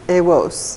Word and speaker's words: AWOS: AWOS.